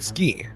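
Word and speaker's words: すき: Suki means liked. Ah, don't forget the suki and subscribe. The ooh sound in suki is often muted, so it sounds more like ski.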